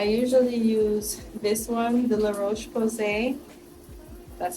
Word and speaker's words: La Roche-Posay: I usually use this one, the La Roche-Posay.